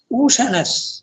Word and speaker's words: Ushanas: The seer poet, Ushanas, among the, it's pronounced Ushanas. Okay. Ushana is the Prathama Vibhuti, Ushana. The root is Ushanas.